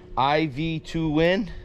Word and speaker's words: Aivituvin: uh coupe by now everybody mispronounces this word or this company's name but iv to win then yeah that all